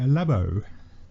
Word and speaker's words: Labo: and play on Nintendo Labo. I did, yes. Is that pronounced right? It is correct, yes, it is Labo.